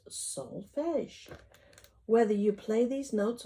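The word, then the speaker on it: solfège: ti together they are called Solfege pronounced Solfege whether you play these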